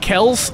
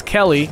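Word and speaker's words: Kellie: But also, doesn't Kells itself come? Because it. Oh, yeah. Internet scandal. Yes. Her name is not Kells, it's Kelly. Yes, but it's spelled with an IE.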